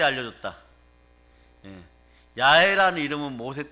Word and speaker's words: 야훼: 자, 하나님의 본명 중에 대표적 본명이 야훼예요. 근데 여기는 여호와라 되어 있죠. 그런데 발음은 야훼가 더 가까워요. 동일한 단어예요.